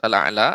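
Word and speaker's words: أعلى: Kita akan silakan dibaca surat Al-A'la ayat 1 hingga ayat 7. Ya. A'udzu billahi minasy syaithanir rajim. Bismillahirrahmanirrahim. Sabbihisma rabbikal a'la. Ya. Ainnya lebih ditampakkan lagi Ibu. A'la.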